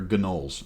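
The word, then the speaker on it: gnoll: being attacked by gnols okay that's how you pronounce it they're gnols all right and they had flights with them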